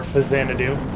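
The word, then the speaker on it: Faxanadu: that i loved was fact santa do or fazanadou depending on who you ask i always pronounced it faxxanadu because there's an accident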